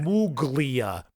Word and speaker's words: Gramuglia: Gramuglia, but yeah, the G after the U is silent. Exactly. It's like a weird Italian sound.